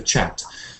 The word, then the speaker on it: chat: chat and uh yeah when you say chat say it the English way uh like CH English the chat so it's in the